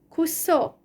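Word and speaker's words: кусок: rybaka, ok, ek suffixes, kusok. So this ok suffix is under stress, kusok, but kuska, then the stress changes to the a syllable, kusok, kuska.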